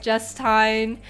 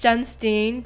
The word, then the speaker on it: Jenstein: So I know some people call it like Justine, Justin. The actual pronunciation is Jenstein because it's our names together. It's fine if you call it Justine, but yeah, Jenstein is the combination of both of our names.